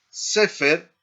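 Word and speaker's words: סֵפֶר: Aparte de este ejemplo que vimos con las dos segol, tenemos estas otras en donde recae el acento, el énfasis, en la primera sílaba, como por ejemplo, la palabra sefer, no, boquer, bal y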